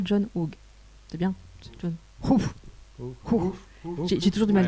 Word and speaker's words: John Hughes: Au niveau de la réalisation, alors désolé pour la prononciation, ils font appel à John Hughes. C'est bien John Hughes.